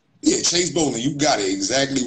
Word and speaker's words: Chase Bolling: I'm Chase Bolling. Yes, I'm pronouncing it right. Yeah, Chase Bolling, you got it exactly right.